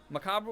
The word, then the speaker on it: macabre: out there so um Macabre with the r pronounced gives it The Vibes of Massacre which makes it more